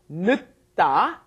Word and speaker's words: 늦다: Notice when it comes up against another consonant, it doesn't get fully pronounced, right? 늦다, because it came up against another consonant, but then when it's conjugated, it comes up against a vowel. The 0 plus a vowel makes it 늦었어요.